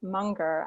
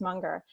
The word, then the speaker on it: Munger: partner and friend charlie munger i think it's pronounced monger but he said take